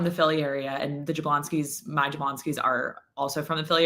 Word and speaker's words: Jablonski: So it was 2 generations ago, it was Jablonowski, still pronounced Jablonski.